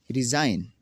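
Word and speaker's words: resign: कैसे जी साइलेंट होगा? ये जी नहीं पढ़ा जाएगा इसमें। नेट, पिस्सू, रिज़ाइन इस्तीफ़ा देना, डिज़ाइन नमूना, रेन हुकूमत करना।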